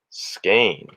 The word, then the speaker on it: skein: of yarn so far so pronounced skein see thank you you're helping me i said it wrong just in in um in all my videos so thank you skane i like that oh